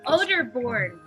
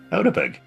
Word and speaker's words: Oderborn: Oderborn. Otisberg. Oderborn. All right, so, let's do it by syllable. O. Repeat after I me. heard you. O. Oh, yeah. Der. Uh-huh. Born.